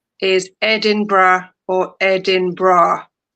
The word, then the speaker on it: Edinburgh: The most commonly Edinra is the most commonly pronounced as Edinbra or Edinra typically with three syllables like this is so difficult. I I have problems incorrect pronunciations incorrect pronunciation Edinburg Edin Burrow or Edin Burrow.